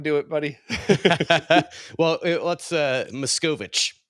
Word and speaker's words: Machkovech: Well, let's Machkovech is how you say it. Machkovech. It's Oh, like Milady Machkovech. Yeah, it's I, I didn't make it up. I think I said Makovich or something, so it was That's a wrong, but standard.